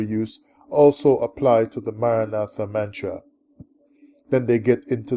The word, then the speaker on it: Maranatha: pronouncing the Mantra the Maranatha Mantra is pronounced with the letter A that sounds like a as in the word car or far so a as in